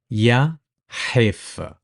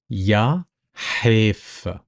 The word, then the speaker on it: يا حيف: The letter Ha, some of you might find it difficult, which is pretty much a stronger version of the letter H. So Ha is pronounced from the back of your throat. Try to close that cavity and try to press or push the air through. So it's Ha. Ha.